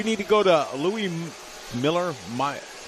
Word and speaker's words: Mueller: Although Harold says, Harold, we need to go to Louis Mueller. I got friends back home that name is pronounced Miller.